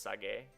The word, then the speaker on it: Sage: It's spelt Sage, but apparently it's pronounced Sage.